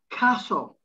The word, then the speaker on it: castle: you pronounce it butcher castle no no emphasis on tea at all castle christmas now sometimes people